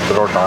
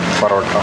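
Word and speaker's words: parotta: That is how you pronounce it, parota, not parota.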